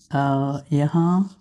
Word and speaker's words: यहाँ: यहाँ the N is a bit silent.